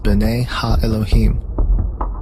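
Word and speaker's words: בני האלהים: The sons of God mentioned here in the Hebrew is pronounced B'nai Ha-Elohim.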